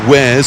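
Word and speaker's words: Wares: Varys on the right w-a-r-e-s where's if you pronounce it in English the gray there are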